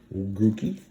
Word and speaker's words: Grookey: Grookey. Rhymes with Dookie.